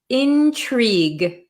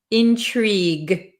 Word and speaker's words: intrigue: but we pronounce it intrigue intrigue we don't pronounce this U or E really Intrigue okay Intrigue so